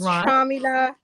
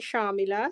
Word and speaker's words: Shamela: get it wrong so am i pronouncing it right sharmila shamila whatever it doesn't matter my father calls me sharmila so that's probably how it's supposed to be said yep but uh i'm